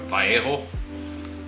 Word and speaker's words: Vallejo: a black wash from Vallejo and that's just uh or vjo I should say it correctly be real cultured you